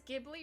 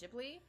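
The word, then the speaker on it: Ghibli: I never know if it's Giblly or Jibli. I think it's Jibli.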